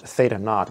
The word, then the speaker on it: theta naught: I remember the first time learning that that's pronounced Theta naught was in a physical class that you just